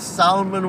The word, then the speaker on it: salmon: That's salmon with an L. Don't pronounce it, or you're a peasant.